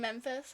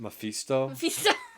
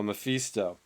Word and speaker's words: Mephisto: And then Memphis, or however you say his name. Mephisto. Memphis. It's not that of a country. It's the devil. Yes, the devil went down to Memphis. No, Mephisto.